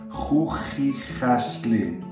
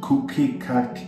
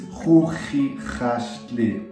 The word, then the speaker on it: Chuchichäschli: It's like you clear your throat, so Ch, Ch, Ch, okay?